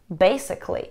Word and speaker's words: basically: Как вы поняли, если у нас есть окончание C-A-L-L-Y, которое вы можете видеть здесь, мы не произносим звук A, мы не говорим Kelly. Так что да, typically, basically.